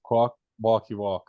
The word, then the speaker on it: Kwakwaka'wakw: Your tribe name is Kwakwaka'wakw.